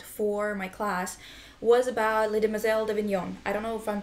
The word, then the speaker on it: Les Demoiselles d'Avignon: I wrote about for my class was about Les Demoiselles d'Avignon. I don't know if I'm pronouncing it right. Pretty good. Oh, thank Les you. Demoiselles d'Avignon. Yeah, Les Demoiselles d'Avignon.